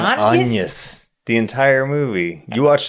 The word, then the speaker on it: Agnes: No, that's They never pronounce it as Agnes in the movie. What? They never say Agnes. She introduces herself as Agnes. Anus. They're always saying Anus the entire movie.